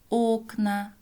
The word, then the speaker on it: окна: Окна. Здесь «о» в начале слова ударное, поэтому произносим как «о».